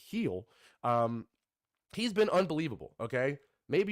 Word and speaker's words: Gil: was coming into this one or how to pronounce his name, it looks like Gil, it looks like Jill, but apparently it's Gil.